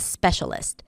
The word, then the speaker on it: specialist: So that's a specialist. Spe-cia-list. Stress is on the first syllable - SPEcialist.